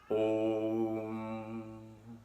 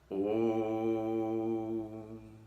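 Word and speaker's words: ॐ: Então o O em sânscrito ele tem sempre 2 tempos. E junta com a letra M vai dar um terceiro tempo ali a sílaba Om. Portanto, a sílaba Om tradicionalmente tem 3 tempos.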